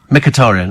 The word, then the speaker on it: Mkhitaryan: How do you pronounce M-K-H then? Mkhitaryan.